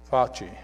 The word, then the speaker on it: Fauci: You can see I need to listen to TV a little bit and learn how to pronounce these things. Fauci.